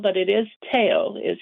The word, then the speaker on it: Theo: Aloha all right well it's wonderful to have Teo on this morning and and as he pointed out it looks like Theo as it's spelled but it is taao is how he pronounces his name and reach